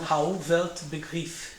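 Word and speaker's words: Rauh-Welt Begriff: isso que é rwb é assim mesmo se pronuncia em alemão Raul velt begriff begriff bom que em inglês é r world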